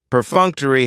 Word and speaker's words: perfunctory: a very cool word perfunctory perfunctory has four syllables and the stress is on that second syllable perfunctory that third syllable has theah and it's going to end with that long e sound perfunctory if something is